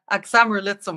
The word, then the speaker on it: Axamer Lizum: I think you've been to, and neither of us are sure of the pronunciation, but it's Axamer Lizum. Yeah, Axamer Lizum. I listened to the pronunciation today.